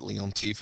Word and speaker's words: Leontief: Remember, I pronounce it Leontief. It's probably pronounced better somewhere else.